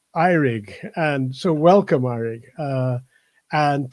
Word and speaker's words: Eurig: of the way his name is spelt it's pronounced iRig and so welcome Eric and to you ross